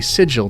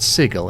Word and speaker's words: Sigil: you were, outsider, but you pronounced the name of our fair city Sigil, not Sigil, and there can be no excuse for that."